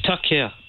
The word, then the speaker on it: Toya: toia in the UK how do you say your name uh it's Toya Toya hi TOA y um